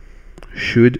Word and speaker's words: should: même sens que should should à nouveau vous entendez pas de l o u l d mais je le prononce pas la valeur de should